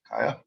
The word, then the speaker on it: Kaija: Kaija. Thank you. Hi, yes, my name is Kaija. You can either pronounce it or spell it, but usually not both at the same time.